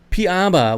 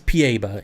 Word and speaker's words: piaba: kangaroo uh piaba piaba well guess what it's pieba in the pacific northwest it's pronounced pieba i don't know where you're at down there in the southeast but it'll always on my channel with my english it's pieba not piaba p eva does anyone